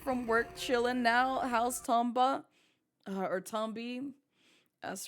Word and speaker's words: Tomba: Twitch says Tombi. It's wrong. It's Tomba. It's Tomba. That's the proper way to say it, Harpy.